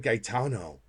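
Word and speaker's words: Gaetano: So in Italian and in like Spanish, you pronounce each vowel.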